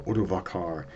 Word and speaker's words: Odovacar: And we come across a man named Odoacer, or Odovacar, depending on how you pronounce it.